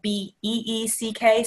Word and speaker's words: Beeck: So Beeck is spelled B-E-E-C-K, so it looks like Beek, but it is the Beeck Center.